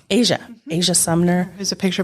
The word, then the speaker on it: Eija: “Aisha?” It's “Asia,” Eija.